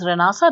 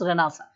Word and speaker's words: Renaissance: be listening to this word rasa it is pronounced as ranasa written as Renaissance okay but pronounced as ranasa so you will be reading about ranasa so